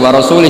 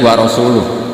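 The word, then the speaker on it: وَرَسُولُهُ: Allah itu terbebas, nggak urusan dengan orang musyrik, wa rasulih juga nggak ngurus Rasulnya. Kalau sama Rasul saja tidak ngurus, apalagi sama kita. Terus sama Sayyidina Ali dibenarkan, yang benar bacanya itu wa rasuluh.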